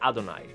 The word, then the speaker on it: Adonai: like I adna let's call it adna it's Adonai right yeah y yes it's spelled a little bit different uh if you